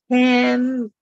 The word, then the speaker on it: Tamika: Tamika. Tamika. Yeah, you said it right.